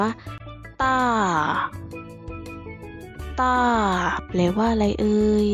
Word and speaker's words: 大: รูป ภาพ นะ คะ คำ นี้ อ่าน ว่า ต้า ต้า แปล ว่า อะไร